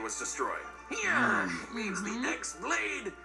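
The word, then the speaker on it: χ-blade: Yeah, means the X-Blade. It's just pronounced like Keyblade, even though it's just one Keyblade.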